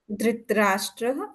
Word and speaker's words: धृतराष्ट्र: धार्तराष्ट्रः पुनः वदतु धार्तराष्ट्रः धृतराष्ट्रः अत्र धृतराष्ट्र इति प्रातिपदिकम् अत्र धृत् इति न करणीयं धृत् इति हलन्तं नास्ति किल धृतराष्ट्र इत्येव पठितव्यं संस्कृते धृतराष्ट्र सम्यक् धृतराष्ट्रस्य अपत्यं पुमान् कौरवः